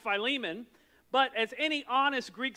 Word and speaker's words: Philemon: how to pronounce philimon they want to call it filimon which sounds like you're from Philadelphia I don't know why